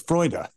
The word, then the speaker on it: Freude: Freud. Yeah. No, it's Freude.